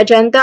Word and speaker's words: agenda: Pronunciation wise, you start with a schwa sound also in here. Uh, uh. Very quick, unstressed, and relaxed vowel sound. Next, um, Jen. Jen. This syllable, it carries the main stress. It starts with the letter J sound, as in j, j. That's a letter J sound, and then followed by a short air sound.